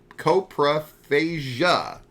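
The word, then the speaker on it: coprophagia: episode 12 uh War of the copro fasia fasia or coasia fasia fasia just fasia I wrote it out phonetically so that I didn't get it wrong and then you questioned me it's C copra phasia okay copra fasia yeah you've been singing it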